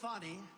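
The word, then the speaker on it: Fani: counts he worked with fonnie even though it's spelled Fanny f a n i fny how about that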